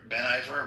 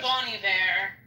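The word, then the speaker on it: Bon Iver: Ben Ben Iver. Ben, what's his name? Is that what his name is? Bonnie Bear. Yeah. It always throws me off because it spelled like Bonnie Bear.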